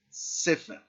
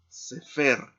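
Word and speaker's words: סֵפֶר: Si no estuviera este signo, tendríamos que leer cefer, porque la regla nos dice que generalmente las palabras en hebreo que no tienen acentos se pronuncia o se enfatiza el acento en la última sílaba.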